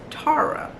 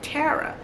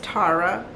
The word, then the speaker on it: Tara: But my name is pronounced Tara, but everybody pronounce my name Tara. So if I don't set the tone, as soon as somebody say, hey, this is Tara, you're going to keep calling me that because,